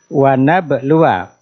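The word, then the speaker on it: وَنَبْلُوَا: Wana belua secara tertulis setelah waw ada alifnya. Tapi dari segi bacaannya alifnya dianggap tidak ada. Wana belua akhbarokum. Makanya secara tertulis ditambahin tanda apa di situ di atas alif? Lingkaran kecil, sifrun mustadirun, menunjukkan huruf alifnya dari segi bacanya dianggap tidak ada. Sehingga membacanya wana belua akhbarokum, wa-nya dibaca pendek.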